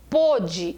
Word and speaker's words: pôde: ontem quando eu falo ontem ele pôde e olha o som ele pôde ir ao uso do